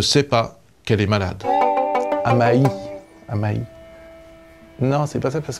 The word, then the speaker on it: Amaï: pas qu'elle est malade amaïï non c'est pas ça parce que tu dis hamaï c'est hamaï faut prononcer comme s'il y avait un tréma c'est parce que je